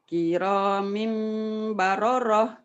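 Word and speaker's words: كِرَامٍ بَرَرَةٍ: Kiramim baroroh. Kiramim baroroh gitu. Ya nggak ada tasdid. Hati-hati.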